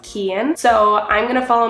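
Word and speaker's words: Cian: a friend in Vietnam whose name was spelled c i a an and I always was like what is that name I was calling him like Cen or something but it was pronounced Ken so I'm going to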